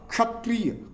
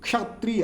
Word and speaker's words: क्षत्रिय: हैं जैसे मान लीजिए क और मुर्धनी स तो क स संयोग क्या बनता है क् ऐसे उच्चारण करेंगे मतलब हल्का जो है क का उच्चारण होना चाहिए क्षत्रिय क्षत्रिय ऐसे उच्चारण करेंगे त